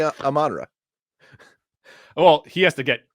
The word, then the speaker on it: Amon-Ra: Yeah, that's how you say it. It would be Amon-Ra.